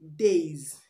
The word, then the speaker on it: days: D is pronounced days the s in days is pronounced z z when the last sound